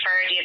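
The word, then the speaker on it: Ferdia: We have a 9-year-old, Ava, her name is spelled Aoibh. She's 9, Ferdy, and then it's F-E-R-D-I-A, he's 8, and then Owen, E-O-G-H-A-N, he's 6.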